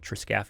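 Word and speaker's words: triscaphe: kind of one joint, that's called our triscaphy joint, or triscaphy is kind of how that word is structured, or triscaphy is how we pronounce it.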